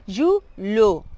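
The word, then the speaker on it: julho: Y luego sería de julio, sería, disculpe, julo. Es aquella pronunciación con LH, que es una L, pero vamos a ver,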